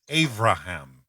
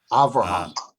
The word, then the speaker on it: Avraham: As simple as this may sound, we use the term, the word Abraham for Abraham, but I have heard, often Hebrew people use the phrase Avraham. Avraham. And is this the difference between the B and the V sound here?